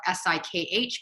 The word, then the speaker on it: Sikh: a sick it's spelled s-i-k-h pronounced sikh not seek my father wears a